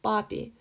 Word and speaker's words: папе: So papi sounds like puppy, you know, like a doggy puppy, almost mommy, like mommy in English.